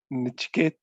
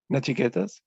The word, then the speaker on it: Nachiketas: like you said that when Nichiket, sorry if I got his name wrong. Nachiketas.